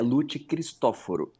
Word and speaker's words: Luti Christoforo: Eu acertei a pronúncia do seu nome. É Lut Cristóforo.